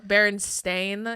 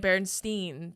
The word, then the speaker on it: Berenstain: the baron stain yeah it's always been an a okay then stop calling it berenstein dummy that's what i